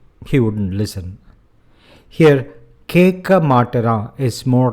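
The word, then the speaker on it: மாட்டுறான்: And if you look at that, the word matara, I have made this U, the letter U, intentionally smaller for you to understand the pronunciation. Matara. And the U is muted, or rather quick.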